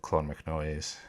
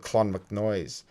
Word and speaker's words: Clonmacnoise: It's spelt Clonmacnoise. There you go. Annals of Clonmacnoise, where it was written that the head of